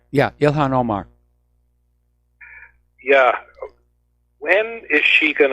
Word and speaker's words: Ilhan Omar: That lady congressman, how do you pronounce her name? Ilhan Omar? Yeah, Ilhan Omar.